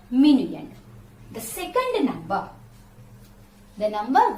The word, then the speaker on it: minuend: subtract from is called minuend how to pronounce the word minion am i and you e and d min lender the number that you subtract from is called minion the second number the